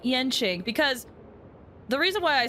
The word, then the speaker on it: Yanqing: Thought it was like Yenqing, because the reason why I say that is because in Genshin, Yanfei, even though it's spelled with an A, it's still pronounced as Yen. I don't know. Yanqing then.